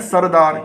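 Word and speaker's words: سردار: अब आप इसकी हिज्जे करिए, सीन को रे से मिलाइए, सीन रे सर, दे दाल अलिफ दा, और रे साकिन दार। अब मिलाइए इसे सर दार।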